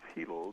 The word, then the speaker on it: Hilo: I live, which is Hilo. The I's are pronounced like E's in Hawaiian language. And you may remember that our friend Rosemary Clark also lived here in Hilo with her husband, Gary Lyon.